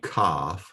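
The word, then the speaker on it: כ: So the pronunciation again is determined by the dagesh in the middle when it's present. When the dagesh is present, then the pronunciation is a hard K, as in king. If the dagesh is not present in the middle, then it's a CH sound, as in Chanukah.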